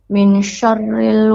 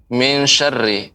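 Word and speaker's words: مِن شَرِّ: Qul a'udzu birabbin nas, malikin nas, ilahin nas, min syarril waswasil khannas. Ya, sebentar Bu. Untuk pengucapan min syarri, nun mati bertemu dengan shin, itu ikhfa. Jadi harus samar. Min syarri, bukan min syarri. Tapi disamarkan nunnya.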